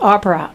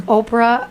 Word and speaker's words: Oprah: the next part so now I'm dreaming with Opera but a really bad dream I'm having nightmares with Opera which is really weird what Opera do you remember Oprah Oprah Oprah opra I'm sorry I said it